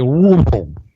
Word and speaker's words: Louisville: The way you would pronounce that is you would stuff your face full of pumpkin pie, and then you would say Louisville.